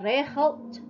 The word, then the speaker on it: regelt: Membaca regelt itu harus ada terdengar huruf T di akhir pengucapan.